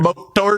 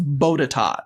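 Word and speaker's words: Botetourt: So, you don't pronounce the last R. So, it's bodat.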